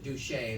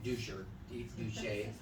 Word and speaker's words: Duché: It's not a dude, and it's not English. Anyway, the great grandson of the man, Duché is their name, Duché.